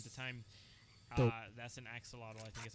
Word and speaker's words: axolotl: development what are you it's called ak zotel oh axolotl axon because that's it that's an axe a model but i mean i don't know that's how you pronounce it but that's a